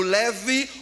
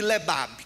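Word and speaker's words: לב: A escrita dela é leb, mas ela pode ser pronunciada como leve ou uma pequena variante de lebab, que quer dizer alguém segundo o coração de Deus.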